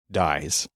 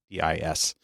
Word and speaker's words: dis: people pronouncing it as dies, D-I-S. So it's spelled with a double S so that you know that it's pronounced dis.